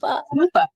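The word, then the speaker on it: Kuper: We've got Jenn Saladay with Koopa Sotheby's. Yes. I don't know why I say it like that. It's just Koopa.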